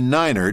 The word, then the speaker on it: niner: you usually pronounce it except for the number nine say Niner to avoid confusion with the German word nine which means no note that although the